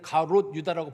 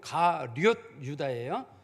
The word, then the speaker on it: 가룟 유다: 당시에 성경에 보면은 우리가 가룟 유다를 우리가 옛날에는 가롯 유다라고 불렀습니다만 정확한 발음이 가룟 유다예요.